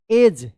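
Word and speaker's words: edge: ई डी जी ई एज क्या पढ़ेंगे?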